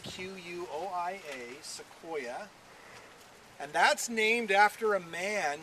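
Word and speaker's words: Sequoyah: into a written language his name was seoa and it ended with a y a it's spelled a little differently than the genus but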